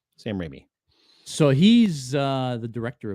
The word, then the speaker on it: Sam Raimi: that correctly is it sam raimi is that how you pronounce it i think it's rainy like it like rain rain like rain but rainy rainy yeah sam raimi so he's uh the